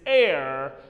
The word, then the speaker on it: heir: five which requires attention be correct about the pronunciation of this word my dear friends it is air the pronunciation of air and the pronunciation of h-e-i-r ditto absolutely see air or h-e-i-r pronunciation same now